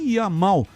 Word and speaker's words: Yamal: O som do Y é I. Então, o sobrenome dele é Yamal.